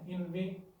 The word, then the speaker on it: inveigh: हमारा पहला वर्ड है इन वे। आपने इसको सिर्फ इन वे पढ़ना है, आगे तारा साकिब हो जाएगा, यानी कि INVEIGH, लेकिन इसकी प्रोनाउंसिएशन जो है INVE तक की तकरीबन रहेगी इन वे, जो कि होता है